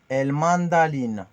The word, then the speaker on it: el mandaline: Le R devient L. El mandaline.